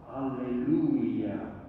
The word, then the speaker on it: Alleluia: They sing the word Alleluia, but with a fifth syllable, Alleluia. And that made an impression on me because it was new 20 years ago when I heard that.